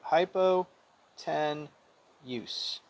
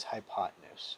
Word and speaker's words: hypotenuse: i never write a hypo 10 use i like to say it like that only because it spells that way hypotenuse the right way to say it is hypotenuse right so it's the